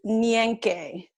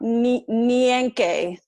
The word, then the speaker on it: Nyenke: It is Nyenke. Uh-huh. I'll say it again. Yeah. Nyenke.